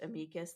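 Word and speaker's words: amicus: called an amus brief I hate that it is pronounced amus that's another one that I'm like that can't be right right um however so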